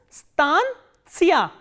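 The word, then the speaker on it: станция: pronounce this voice and the stress is on ah so that you have to keep in mind this is Stan SIA Stan SIA Stan SIA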